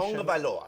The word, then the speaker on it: Tagovailoa: I'm trying to correct my pronunciation. Tagovailoa.